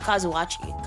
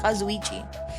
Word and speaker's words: Kazuichi: Oh, Kazuichi. Sorry, not Kazui. Kazuichi. I was I was just trying to make sure I was saying it right.